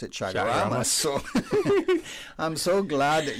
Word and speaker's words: Chaguaramas: commemoration of the signing of the Treaty of Chaguaramas in 1973 to create CARICOM. Okay. Well, there you go. And then when I read the word, I didn't pronounce it Chaguaramas.